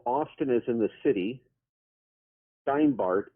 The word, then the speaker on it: Steinbart: Steinbart, as in the root word Stein, German Stein, like stone, and Bart, like Bart Simpson, if you will.